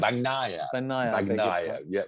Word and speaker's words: Bagnaia: Is that how you pronounce Bagnaia, it? Bagnaia.